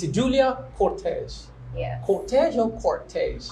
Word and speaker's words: Cortez: Cortez or Cortez? Cortez. Who is It's an R. An R. There's an R in it. Yes, yeah. but I don't pronounce this R.